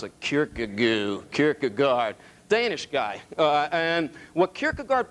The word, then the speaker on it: Kierkegaard: How do you pronounce it? Kierkegaard.